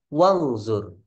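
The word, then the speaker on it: وانظر: Nah, kalau kemasukan wa wangzur.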